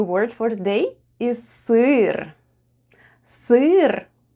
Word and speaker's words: сыр: And the last new word for today is СЫР /sêêr/ . СЫР /sêêr/ is...